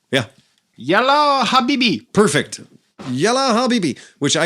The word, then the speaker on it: Yalla Habibi: Yalla Habibi.